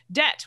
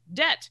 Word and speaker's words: debt: riggers of orthography as to speak doubt fine when he should say doubt debt when he should pronounce debt d-e-b-t not d-e-t he clep at the